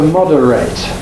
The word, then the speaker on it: moderate: You probably know that the A-T-E suffix is pronounced eight in verbs, so the verb is to separate, and the verb is to moderate.